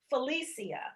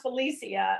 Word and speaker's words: Felicia: cyberspace world um actually my name is pronounced felicia it's four syllables i get a lot